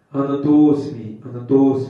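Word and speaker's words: ānato 'smi: Anatosmi, it is more correct to say it like this.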